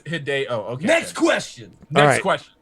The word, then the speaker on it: Hideo: happens so badly I you're supposed to pronounce it like video but with an H hideo yeah that's what I